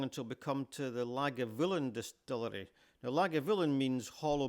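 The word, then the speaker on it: Lagavulin: This is the g spelling on the road sign. You can see that it's not just the BH that's sounded as a V.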